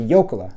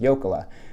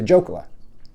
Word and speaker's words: Jokela: As a gift to our grandmother, our Finnish grandmother, we should change the pronunciation of our last name to a more authentic last name, which would be Jokela, because Arnie and I had gone to Finland,